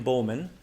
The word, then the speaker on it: Buhlman: So first, I would like to suggest William Bowman. So William Bowman is spelled Buhlman.